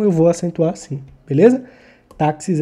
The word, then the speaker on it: táxis: Táxis, ou como eu falo, tá. O tá é a minha sílaba tônica.